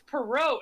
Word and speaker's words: Perrault: he talking about oh perot yeah because the show the show got his name wrong i remember originally i was harping on the fact you got his name wrong it's perrault and then i was